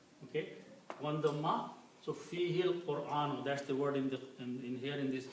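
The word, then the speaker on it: فيه القرآن: So when you read together, you do not pronounce the alif, but you combine this ha with the lam.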